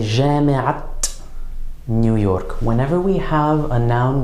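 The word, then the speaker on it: جامعة نيويورك: marbuta in an idafa, we're going to pronounce that ta marbuta as a ta, as a T sound on all the words except the final word of the idafa.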